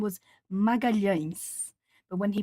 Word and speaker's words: Magalhães: If that person was Portuguese from Portugal, then it would probably sound almost like an SH. Magalhães. That's how it sounds for Portuguese from Portugal.